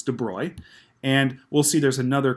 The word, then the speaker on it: de Broglie: discuss something called the de Broglie wavelength some people pronounce it debroglie wavelength but it's debris and we'll see there's